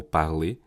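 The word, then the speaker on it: Parler: It's parley parlay which is a text to speech model. So well parley in French means speaking. So I guess that's what's the intended pronunciation. So parley.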